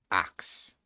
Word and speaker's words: ask: to shut up the people who are very against axe instead of ask as the pronunciation. Axe is not the pronunciation that I use, but I know some people do. And I mean, I know people like to bring up the fact that that was actually the pronunciation that was used before the standard pronunciation, or the quote unquote standard pronunciation came into being.